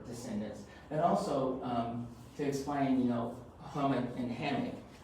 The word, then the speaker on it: hummock: And also to explain, hummock and hammock, hammock is kind of this Americanized iteration, but originally it's called hummock, because a hummock is a raised body of land, so it's always called hummock. That's how the folks pronounce it.